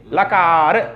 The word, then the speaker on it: लकार: इसलिए इसको हम कैसे बोलेंगे? लकार ऐसा बोलेंगे।